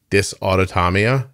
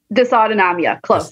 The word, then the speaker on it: dysautonomia: i'm gonna make sure i'm saying it correctly dysautotamia is that right dysautonomia this autonomia okay did they tell you you